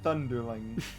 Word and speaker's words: Thunderling: dude and chet van thunderling yes that guy's last name rhymes with underling yeah so tj just